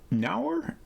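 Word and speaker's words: Nour: coming up called uh nauer nor I don't know how to pronounce it n-o-u-r my assumption was that it rhymes with poor okay nor we'll say nor then which looks very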